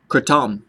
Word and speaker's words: kratom: you say the word and he said it's pronounced kratom by Kurt um so in Thai kratom means